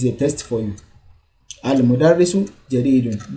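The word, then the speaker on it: المدرس: Al-mudarrisu jadidun. Don't say al-madrasu or al-mudrisu.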